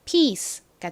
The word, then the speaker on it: piece: P는 피읍 소리 나죠? 그리고 IE는 이렇게 중간에 들어오면 긴 이 소리 나고요. CE는 단어의 끝부분에 쓰이면 스 소리가 나죠. 그래서 piece가 됩니다.